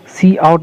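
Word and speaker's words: cout: सी आउट is pronounce, इसको हम लोग सी आउट प्रोनाउंस करते हैं।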